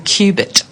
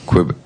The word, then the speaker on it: Qubit: Last weekend, called Qubit. Qubit. Yes, I pronounced it wrong. Not C-U, it's Q-U-B... IT.